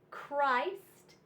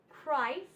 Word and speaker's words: Christ: We have ache, schoolhouse, schoolhouse, Christ, Christ, scheme, scheme, echo, echo, and chrome, chrome. All of these are the CH special sound, but it's pronounced with just the C sound and the H is silent.